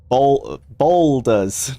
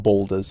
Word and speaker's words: Baldur's: Baldur's. It's a B-A-A, isn't it? Not Boulders. Baldur's.